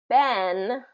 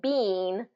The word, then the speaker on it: been: All right, the word been is really been. It's pronounced, the spelling is really bean. It should be bean, but this is a common word and is usually reduced to been.